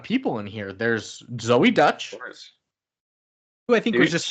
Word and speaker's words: Deutch: in here there's Zoe Dutch who I think was just kind of I think it's dutch but it's spelled like Deutch she's just coming onto